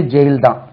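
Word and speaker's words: gaol: equal J ஏல் jail இதுக்கு உச்சரிப்பே ஜெயில்தான் Jailer jail warden சொல்றீங்க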